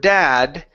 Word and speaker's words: dad: sometimes when you say the word dad if your tongue is touching the back of your teeth ok it actually sounds